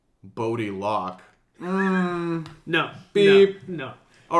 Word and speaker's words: Bode: some kind of distribution I was reading the name is bode the entire time but you guys have been reading it as bodo just sounds stupid but both of you